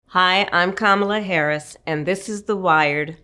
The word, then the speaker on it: Kamala Harris: How to pronounce Kamala Harris. Kamala Harris.